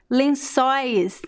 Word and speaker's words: lençóis: Lençóis, it's open.